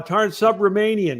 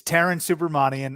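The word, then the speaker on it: Taran Subramanian: how are you uh Tarn subramanian did I get that right hey Lou I got to give you credit for the first time uh for a first time person trying to pronounce it pretty close it's Taran supermanian uh but you can call me subi everyone just calls me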